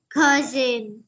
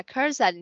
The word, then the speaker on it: cousin: Holy is the youngest cousin, but Max is younger than Leo. Rồi, chỗ này mình sẽ đọc là cousin ha, chứ không là cousin nha.